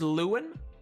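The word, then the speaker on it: Lun: oh my God uh pronounced is it pronounced Luen or do do you in your mind have that pronounced it a different way Luen okay L uh just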